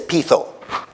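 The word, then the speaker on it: πείθω: Se dice pitho. Se escribe peitho.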